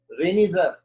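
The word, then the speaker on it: Reinitzer: ये phenomena Austrian botanist थे Frederick रेनिजर, Frederick रेनिजर, टी इसमें साइलेंट है, 1888 में उसने डिस्कवर किया था।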